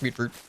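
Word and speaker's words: mutfruit: It's pronounced mute fruit.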